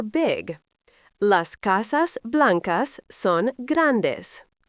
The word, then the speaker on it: grande: Big is grande, pronounced grande.